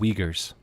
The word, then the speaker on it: Uyghurs: They're called Uyghurs. The Uyghurs. It's spelled completely different in German.